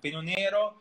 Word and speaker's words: Pinot Nero: Let's pronounce it in Italian. Pinot Nero, Chardonnay, Pinot Bianco up to 50%, and Erba Mat up to 10%, which is the latest arrival.